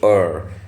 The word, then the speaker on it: err: Now I'm going to read from a chapter that's titled Having the Courage to Err. Err is pronounced as err as well.